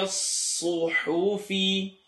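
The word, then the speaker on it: الصحف: I'm exaggerating so you can see the sound. لَفِي الصُّحُوفِ. If you feel a little bit of air now, it's okay. You'll learn to pronounce صاد without over-exaggerating it, but now it's not wrong.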